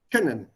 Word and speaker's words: können: Please remember, this double consonant will make this O short. Können, not können, können. Können. Nicht können. Können Sie mir helfen? Das ist falsch. Können Sie mir helfen?